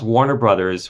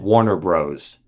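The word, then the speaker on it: Warner Bros.: across a Warner Brothers which in print is always written as Warner b r oos period Warner Brothers we all saw it on Looney Tunes cartoons and old movies Casa Blanca you name it it's Warner Brothers every time he came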